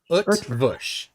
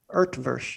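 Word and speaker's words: Eötvös: Utvush. Earthvush. Yeah. No, there's no R sound. Utvush is.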